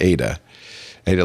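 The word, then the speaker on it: Ai-Da: of ADA Loveless a i d but it's pronounced Ada aah Loveless of course the world's first computer programmer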